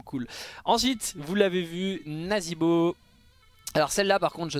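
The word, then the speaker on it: Nazeebo: là pas du tout la prononciation est bien naasbo et donc là ça pourrait dire nasbo et au final non c'est nazibo donc c'est vraiment très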